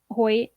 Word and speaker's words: Hoyt: van velkenberg Michael heck Hoyt Nick Hampden and Kiera Thomas did I say Michael hoyt's name right you said it right the second time like